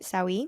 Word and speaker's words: Sawi: When you created Sawi, am I pronouncing that right? Sawi. Yes. Sawi.